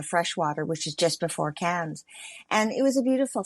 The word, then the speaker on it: Cairns: So it looks like Cairns, like because of the AI and so on, but a great way our tour guide told us was, say it like cans. So 1 can of beer, 2 cans of beer.